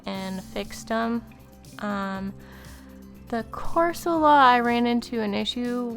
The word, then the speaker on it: Corsola: added a corsola corsola that's that's how you pronounce it corsola um there in the bottom and then i